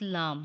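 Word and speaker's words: لام: lamb lamb is dotless lamb is a light sound and long letter but sometimes heavy it is pronounced when the rounded tip of the tongue touching the back gums of the frontal a teeth you can read after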